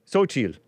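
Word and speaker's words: Xóchitl: or the quote-unquote conservative, how do you guys pronounce this? Xochitl. X-O, Xochitl.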